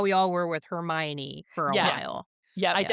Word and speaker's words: Hermione: Her name was just Hermone in my head and then the movies came out and I went, "Wow, not even close."